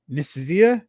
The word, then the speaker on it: Nicieza: And, Fabian Nicieza, did I say it right?